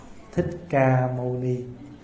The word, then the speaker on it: Thích Ca Mâu Ni: Usually we pronounce in Vietnamese, Thích Ca Mâu Ni. Thích Ca Mâu Ni is the translation, is the pronunciation from the original term Shakyamuni.